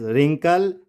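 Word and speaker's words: wrinkle: जैसे WRONG, it's wrong, WRITE, right, WRAP, रैप, और इसको आप खुद ही पढ़ लेंगे, road, very good, and this is रिंकल and this is wrapper.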